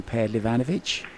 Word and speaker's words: Pehlivanovic: one of the first names I learned to pronounce sanin per leanovich yeah it's one of them words I like